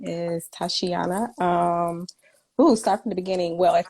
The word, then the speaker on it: Tysheona: I hope I pronounced your first name right because I hate it. Tysheona.